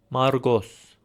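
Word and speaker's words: Մարկոս: So this name would be Margos. Margos. Remember it's a hard G sound. So, pause the video. I'll show the solution in 3 2 1 Margos.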